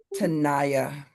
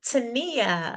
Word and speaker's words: Tana: Her name is Tanaya. Did I say that right? Thank you Janelle. It is Tana. Tia. Oh man.